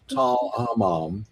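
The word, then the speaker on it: Tall el-Hammam: the area around what we think of as Tal Hammam, that's the pronunciation, they discovered not that it had meteorites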